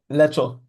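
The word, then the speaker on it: leczo: What, how do you pronounce the Polish vegetable soup? Lecho. Lecture.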